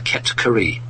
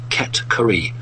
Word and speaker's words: Ket-Kari: So the actual proper name for these people is the Ket-Kari. I'll say it again, Ket-Kari.